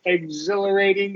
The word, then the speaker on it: exhilarating: yeah I wanted uh the exh followed by about exh followed by about that that's going to make the X the gz right exhilarating exhausting the only uh